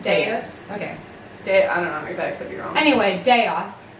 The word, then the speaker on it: Deus: We were pronouncing and then he came. I know. He told me too. Deus.